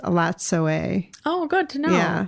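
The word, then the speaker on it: Elatsoe: book, which is adorable, which she talks about Alatso. It's actually pronounced Alatsoe. Oh, good to know. Yeah. Alatsoe.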